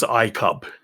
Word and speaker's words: iCub: You'd think that would be pronounced iCube, but the company name is iCub. So, unless they're pronouncing it weirdly, I think it is actually the iCub.